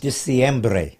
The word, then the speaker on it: Diciembre: Diciembre. That's how they say it in Spanish.